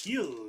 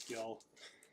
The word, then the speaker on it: Gil: the Pirates and Luis Gil number 699. I know that's how that's how you really say his name, but I can't help but say Luis Gil. Luis Heel going on to the Yankees out of 6.99.